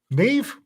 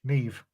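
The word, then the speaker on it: Niamh: Neve, N Nora, I A M Mary H. Neve. It's Irish.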